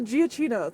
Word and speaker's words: Giacchino: Michael Giacchino.